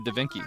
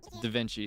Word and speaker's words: Da Vinci: So, with this one, this is Speaking of Dainci, we got two Dainci. Two Dinkies in one day. Da Vinci is the correct way to pronounce that name, by the way, just in case you don't know.